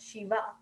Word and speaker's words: Shiv: And the same with Shiv, we know it's Shiv Bhagwan and not Shiva.